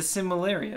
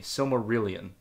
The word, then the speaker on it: Silmarillion: The Similarian.